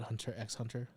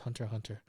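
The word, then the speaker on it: Hunter × Hunter: a very good one see how I didn't call it hunter EX Hunter proud of you it even has it Hunter x Hunter pronounced Hunter Hunter it's funny if you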